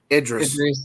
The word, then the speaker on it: Idris: to sports here but technically he said his name wrong it's Idris oh oh [ __